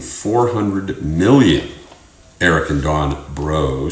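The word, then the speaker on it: Breaux: at a Southwest Louisiana Farm the owners of bro Farms hey it's spelled like b r e a x you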